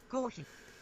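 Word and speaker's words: コーヒー: Kohi is the Japanese pronunciation for coffee. Kohi.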